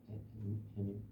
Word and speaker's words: 해님: 인산말이 아니라 인사말, 머리말, 해님이라고.